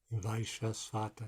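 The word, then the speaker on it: Vaivasvata: Vaishvasvata, yeah. Thank you. Vaisvasvata. Nice pronunciation.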